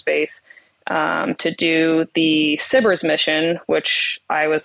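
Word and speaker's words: SBIRS: um to do the sybers mission which I was like I don't even know what sybers is I can't spell it it's spelled s-b-i-r-s not s-i-b-i-r-s like you would think so I said no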